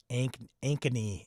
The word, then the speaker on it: Ankeny: Ankeny is how you pronounce that.